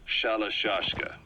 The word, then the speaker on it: Shalashashka: Someone must have known about that, because somewhere along the line, Shashka got stuck on the end of Sharashka. The guerrillas were using the name amongst themselves. By the time I got to hearing about it, pronunciation had wound up as Shalashashka. So half gulag, half hero sword.